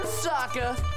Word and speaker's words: Sokka: That's right, I'm Sokka. It's pronounced with an akka.